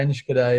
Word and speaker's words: Enschede: Is it Enschede, is Reece how you pronounce it? Yeah, Enschede, yeah.